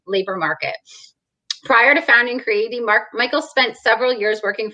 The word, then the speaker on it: Creaity: Creaity.